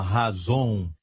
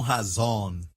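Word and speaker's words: חזון: que você saiba que eles pronunciam da seguinte forma razón e não razão razón como uma razão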